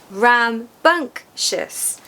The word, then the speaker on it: rambunctious: So, there's three syllables. rambunctious. Remember that the second syllable is stressed.